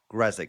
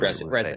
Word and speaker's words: Grzesik: It's pronounced Grzesik is the English term. Grzesik. Okay, just awesome. drop the Z. Yeah. Just drop the Z.